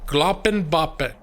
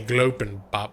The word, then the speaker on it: Gloppenboppen: It's pronounced Gloppenboppen. Gloppenboppen. I think I said it right once, and then I keep screwing it up. And I say Glopenbop. Glop. Because you need it. I keep wanting there to be 2 P's in the first one, like Gloppenboppen.